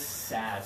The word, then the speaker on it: sad: This one is the same as man, okay? And this is sad. So put up those two Sad.